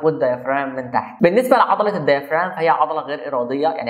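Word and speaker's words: diaphragm: فالديافرام فيها حرف الجي مش بيتنطق، هي الديافرام.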